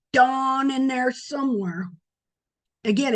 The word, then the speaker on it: Dan: to have that name Dawn in there somewhere. Again, it's not Dan, and it's not Dean, it's Dawn, D-A-W-N. or D-O-N, dawn.